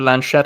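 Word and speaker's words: Laschet: CDU's leadership, although he's Mr. Lanchette, I believe is the way to pronounce his name.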